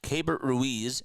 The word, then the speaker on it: Keibert Ruiz: Then you got Keibert Ruiz, and that is how you say it.